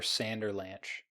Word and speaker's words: Sanderlanch: I think I prefer Sanderlanch. Yeah, Sanderlanch sounds more like Avalanche, so yeah, that would be the better way to pronounce it.